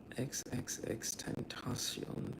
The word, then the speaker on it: XXXTentacion: XX Xentacion. Tentacion. XXXTentacion is how you say it.